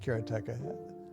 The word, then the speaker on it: Karateka: say karateka or karateka in Japanese uh there's no stress on any syllable so it would be